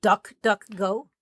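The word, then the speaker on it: DuckDuckGo: privacy browser remember Epic Duck ducko is spelled like Duck Duck Go Duck Duck Go yeah just do a Google search for duck ducko duck like not duck duck duck yeah like the game Duck Duck Go yeah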